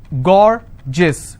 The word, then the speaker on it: gorgeous: example i have a word gorgeous so gaur jis two syllable i will stress on gore s-i-o-n tension pension so